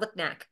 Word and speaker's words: Lipnack: neck it's it's yeah it sounds just like the how it's spelled lipnack lipnack okay and Rita